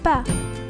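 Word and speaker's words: ب: Repeat with me, ba. The letter ba is pronounced like the English b in boy.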